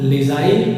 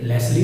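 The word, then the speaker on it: Leslie: लेज़ाइल Norris, इसको हम लेज़ाइल pronounce करेंगे, ओके। लेस्ली नहीं कहेंगे, लेज़ाइल कहेंगे, लेज़ाइल नॉरिस।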